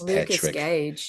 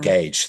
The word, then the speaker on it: Gage: how do you say his name here as Gage yeah Gage thank you do you know him um off